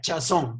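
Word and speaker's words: חָזוֹן: y no es que leyendo se pronuncia chazón pero en término de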